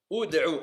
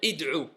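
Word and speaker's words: ادعوا: Ud'u. Et on va pas dire id'u.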